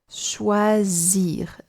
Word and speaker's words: choisir: You see that this letter S, when it's on its own, sometimes can do Z, like here, because it's surrounded by two vowels. Choisir, je choisis.